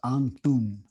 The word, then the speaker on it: Antun: His name was Anton. Anton, like Anton with Andy. Oh, But it's pronounced Antun.